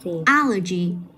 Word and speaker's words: allergy: Rồi, allergy. Allergy. Tại vì cái đuôi G này nó nằm âm tiết số 3. Vậy bây giờ mình sẽ cách đi một âm, mình sẽ nhấn vào âm số 1.